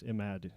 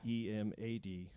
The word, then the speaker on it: Emad: I'm really It's E M A D. Emad. Oh, okay.